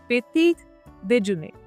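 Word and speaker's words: petit déjeuner: पेटीट देजुने, पेटीट देजुने।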